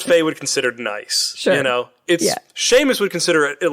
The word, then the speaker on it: Seamus: I mean, you know it's pronounced Seamus. Why do you always do this to me? I've seen how it's spelled, It looks like Seamus.